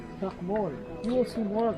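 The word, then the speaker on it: Chac Mool: Chakmol. Chak, that's what teachers used to write on the board. Mol is like the animal that lives underneath the ground. That's how you pronounce it, but it's spelled differently.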